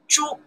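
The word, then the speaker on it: 珠: The whole character pronounced Zhu from this radical, from the left side, Zhu. Okay. Zhu. This radical pronounced Wang, somebody last name Wang. This radical pronounced Zhu, somebody last name Zhu. Together character, we follow this radical, we pronounce Zhu.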